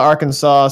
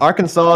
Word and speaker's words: Arkansas: Basically, to sum up, Uh, Arkansas is not pronounced the same as Kansas because screw it, they're American.